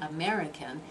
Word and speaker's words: American: look at the word American step three syllables government has got three syllables now which one is stressed American the second one and government so mirror